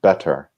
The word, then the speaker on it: better: And in the more standard British English, the T's are pronounced very, very much like a T, better.